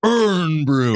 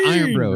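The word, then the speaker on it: Irn-Bru: this large bottle of Urn Brew. It's Iron Brew. It's Iron Brew. You guys are just saying it wrong on purpose.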